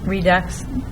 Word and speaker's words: Redux: is Depot Redux um Redux rhymes with Deluxe I might need some